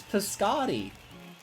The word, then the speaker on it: Piscotty: you say a thing it's piscotty like this cody whatever i just literally